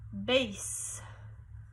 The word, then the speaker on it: bass: called a bass clef can you say that bass bass is spelled with two S's now the bass clef